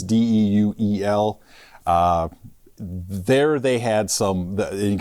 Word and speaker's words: Deuel: In fact, eastern South Dakota, I think it's pronounced Duel County. It's Deuel.